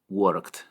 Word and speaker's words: worked: El último sonido es k, k. Toca tu garganta al hacer este sonido y verás que tampoco produce vibración. Por lo tanto, la pronunciación en pasado es worked, worked.